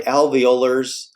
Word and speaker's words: alveolars: these two alveolars now the alveolars kind of rhymes with molar and these are your